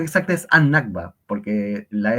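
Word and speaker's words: النكبة: chiquita es la N en árabe y esta N absorbe el sonido de la L. Uy, el sonido de la L. Entonces, eh para hacer más fácil la pronunciación, en vez de decir al Nagba, es annba.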